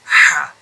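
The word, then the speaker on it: ح: This letter here is Ha. Ha. It comes from the middle part of the throat.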